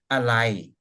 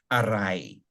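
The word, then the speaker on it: อะไร: say alai na, because alai means what. The proper pronunciation is arai, but even Thai people don't pronounce it this way typically. They'll pronounce it just alai.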